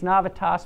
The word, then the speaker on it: Novitas: Really, it's Navitas, but Novitas sounds like new pain. I like to pronounce it that way.